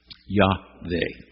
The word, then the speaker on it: Yahweh: Yahweh. The W is pronounced like a V, okay?